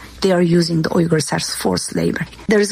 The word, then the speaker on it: Uyghur: And it sounds to me like she's saying Uyghur.